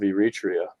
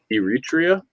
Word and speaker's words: Eritrea: it's a large country i've never heard of eritrea yeah neither of us 6.1 million people and apparently 14 athletes what was the name of that country eritrea eritrea e-r-i-t-r-e-a no club the red sea coast borders